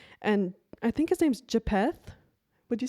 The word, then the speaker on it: Japheth: It is usually pronounced as Japheth Japheth.